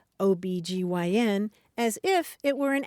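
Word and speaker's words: OB-GYN: initialism right right yeah the initialism where you say just the letters and an acronym where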